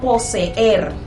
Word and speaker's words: poseer: Por ejemplo, la palabra poseer. Vemos que hay dos, si vemos la palabra poseer unificada, sin separarlas en sílabas, vemos que hay dos vocales, y es que las dos vocales tienen sonidos independientes.